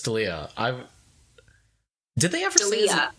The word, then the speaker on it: D'Elia: his name that's true is it or daliyah well so the problem is I think that I've heard both but I think it's Chris D'Elia I did they ever